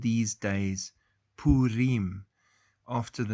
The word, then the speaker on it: Purim: The correct pronunciation is Purim. Purim. Okay, Wednesday the 16th to Thursday the 17th is Purim.